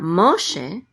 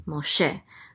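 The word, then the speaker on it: משה: So it's not Moshe, it's Moshe. The accent is on she.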